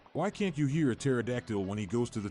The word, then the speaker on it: pterodactyl: Why can't you hear a pterodactyl when he goes to the toilet? Because the P is silent.